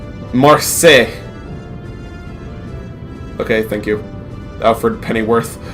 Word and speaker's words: Marseille: blown off balance same our sin days it's pronounced Marseille okay thank you Alfred Pennyworth what are you